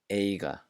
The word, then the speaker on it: eiga: A tip for making this sound, make the G sound many times like g, g, g, and then make it lighter where you're not having as much contact in the back of your mouth. Ra, ra, ra, ra, ra, ra. Saga. Eiga, yer, just like that.